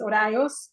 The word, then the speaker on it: Horaios: Horaios. If you can't roll your R, don't worry. Work with me, and you will.